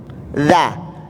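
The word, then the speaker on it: ذ: Dza, ujung lidah ketemu dengan gigi depan.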